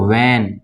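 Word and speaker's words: when: जैसे कि वॉट, ठीक है ना, इसको वैन, ठीक है, यहाँ पे भी एच साइलेंट है।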